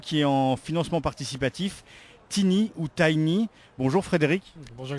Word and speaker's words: Tiny: de rôle alors donc moi je le prononce à l'anglais tiny c'est donc qui un